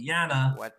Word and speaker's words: Jana: that thank you yeah even even uh janna i i miss pronounce her name is actually jana yeah being from the